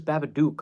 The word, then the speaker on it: Babadook: I'm more concerned with the D-O-O-K part, because I promise you it is supposed to rhyme with the word book, the word look.